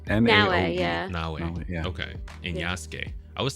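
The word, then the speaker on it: Naoe: 10 correct yeah let me get closer it's na na okay and I was saying yuk for the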